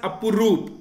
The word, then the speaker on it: Apurup: It is pronounced as Apurup.